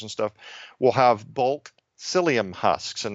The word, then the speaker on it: psyllium: stuff will have bulk psyllium husks and that's spelled with a P P sy l li um husks psyllium husks there's a